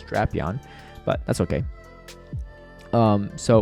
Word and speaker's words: Drapion: they actually come in drap on here so it's actually pretty good or a apparently the proper pronunciation is drapion but that's okay um